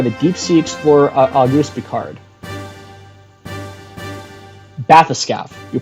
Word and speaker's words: bathyscaphe: Bathyscaphe. You pronounce it bathyscaphe.